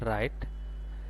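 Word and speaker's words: write: এখানে ডবলিউ উচ্চারণ আসবে না। এখানে হবে রাইট।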